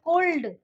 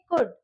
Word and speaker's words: could: Okay, and देखिए ये जो चीज है कोल्ड, कई ऐसे बोलते हैं COULD, तो उसको कुल्ड बोलेंगे, शुल्ड बोलेंगे, नहीं ऐसा नहीं है, यहाँ पे L साइलेंट है, तो इसको हम प्रोनाउंस करेंगे कुड या फिर शुड, ठीक है।